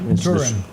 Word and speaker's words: Turin: The shroud of, you pronounce it Turin? Yeah, Turin.